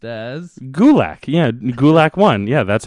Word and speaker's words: Gulak: So his name is pronounced as Gulak.